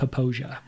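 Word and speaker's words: Popo Agie: O A G I E and it's pronounced Posia. Um we went to the middle fork of the Posia right outside of Lander. Mhm. go up to Posia Falls and we run that section of the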